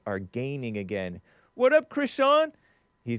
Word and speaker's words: Crishaun: What up, Crishaun?